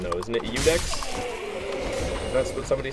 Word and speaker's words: Ludex: Because there's no L in the name. It's like an I and then a U. How would you pronounce it with an L? I've never understood that. I've heard people say Ludex. And that's why I was like, is it Ludex? I thought it was an I.